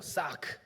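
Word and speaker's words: צָעַק: 마치 이 말씀을 보면 하나님이 모세를 책망하듯이 말씀하시는데 실제로 보면 이 부르짖다라는 단어는 히브리어 사크, 좀 싸납죠? 발음도 사크, 날카로운 소리를 지르라는 표현이에요.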